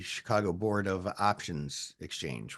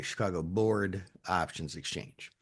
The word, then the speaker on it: Chicago Board Options Exchange: That exchange is the Chicago Board Options Exchange, which a lot of people don't pronounce correctly. They say Chicago Board of Options Exchange, which doesn't make any sense, but it sounds